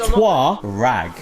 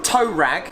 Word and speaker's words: Touareg: It's not a Touareg. Touareg. No, it's Touareg. Pronounced Twa. with a hidden W somewhere. It's a Touareg. Is an O and a U with the G. No, there's not a hidden and W. then it's reg at the end.